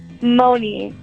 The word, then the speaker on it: Moni: thank you what was your name again Mooney Mooney Mooney Mooney yeah how do you spell that good question um m o n i